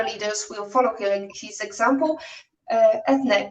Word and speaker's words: Eithne: I have an Irish first name that is pronounced with an A at the end, even though it's Eithne.